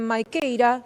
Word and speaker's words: Maquieyra: Vamos a estar hablando de todo esto con Austin Maikeira, gerente general de Sailing Inversiones. Muy buenos días, Austin. No sé si lo estoy pronunciando bien, si no me vas a corregir ahí tu nombre.